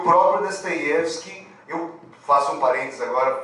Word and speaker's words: Dostoiévski: E o O, em russo, quando o O é átono, ele é pronunciado como A. Então, como a sílaba tônica ali é o Ye, então é por isso que eu vou falar Dostoiévski, ou se eventualmente, não